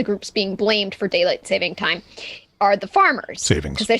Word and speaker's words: daylight saving time: of all i know it is daylight saving time not savings time apostrophe s or otherwise and i am so